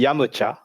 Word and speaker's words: Yamcha: for yamcha wait yeah that's the pronunciation in japanese like the proper one uh well the proper one would be yamucha yeah what what is it in your region no yamcha but i i i